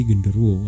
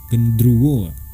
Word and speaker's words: genderuwo: Magis pada tahun 2007, istilah genderuwo itu jika diucapkan dalam bahasa Jawa akan menjadi genderuwo ataupun gendruwo. Nah, sementara jika dalam pengucapan bahasa Sunda akan menjadi gandaruwo.